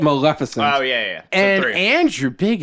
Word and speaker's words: Maleficent: one melissan yes and you didn't say it right say it right wait Maleficent Maleficent Maleficent said Maleficent again you said melissen again fans fans of the blooper episode will understand Maleficent there you go malefic so I got